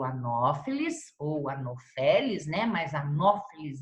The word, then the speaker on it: Anopheles: Mas Anopheles é o nome correto, a pronúncia correta.